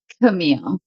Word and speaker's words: Camille: Now, I was just introducing yourself, and then I was wondering, wait, how is your name pronounced? Is it Camille? Camille? What is that? Camille.